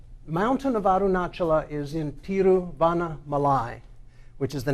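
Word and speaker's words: Tiruvannamalai: of arunachala is in tiruvanna malai which is the name of the city which i used to pronounce incorrectly so we think of the great american saint vanna white malay and there's sometimes a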